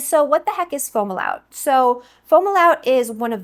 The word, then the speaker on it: Fomalhaut: Now, you might sometimes hear it pronounced Fomalhaut. I'm pronouncing it Fomalhaut because I asked one of the AI robots to help me figure out the correct pronunciation, and that's the one that seemed to be its preference. But I've definitely heard it pronounced both ways, which is why I double checked.